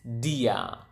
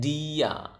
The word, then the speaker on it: dia: just simply say the same word which is Dia again DIA Dia okay and then how do you say